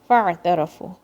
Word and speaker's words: فاعترفوا: Now see, fa is joining with the ayn. Fa. Okay, not فاعترفوا. Don't say it like that. فاعترفوا. Ra is heavy.